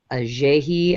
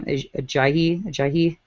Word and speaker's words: Ajayi: Ajayi, I want to say is how you would say his name. Ajayi. There we go.